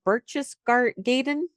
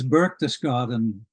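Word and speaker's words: Berchtesgaden: We're going to Now Bruce, do you know how to pronounce is I never say it. Burches Gaden. Burches Gaden. Does that sound right? I think it's Burkus Garden. There you go. You you've got the right accent, I'm sure.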